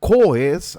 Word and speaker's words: COES: And COES, I will use the pronunciation in Spanish, COES, they offer the full power system, the whole power system model using DIgSILENT PowerFactory.